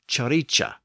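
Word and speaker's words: cirice: so that word becomes c i r i c e pronounced chicha and chicha is the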